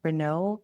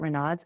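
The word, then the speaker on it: Raynaud: She's been dealing with symptoms like Renault. It's ren some people pronounce it renods.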